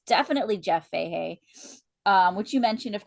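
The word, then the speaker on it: Fahey: Yeah, I'm pretty sure his name's pronounced Fehee. Jeff Fehee.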